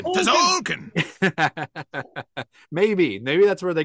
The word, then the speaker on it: Tzolk'in: The way you pronounced it at first, isn't that from Street Fighter 2? Tzolk'in. Tzolk'in.